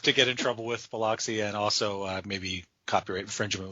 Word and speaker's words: Biloxi: It's Biloxi, and they're pronouncing it Bilaski.